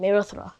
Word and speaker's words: Mehrotra: I pronounce like you're supposed to pronounce my last name. Merotra. Merra. Okay. So. Marotra.